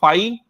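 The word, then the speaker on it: phi: equal to फ तो यह वाला जो सिंबल है जो बच्चे नहीं जानते बता दूं फाई प्रोनाउंस करते हैं ये एक नल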